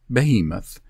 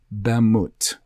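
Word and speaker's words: בהמות: Besides the ease of now reading it from left to right, you find by using the key at the top of the OBRY Strong's list that it should likely be pronounced Bemut, B-E-M-U-T, Bemut.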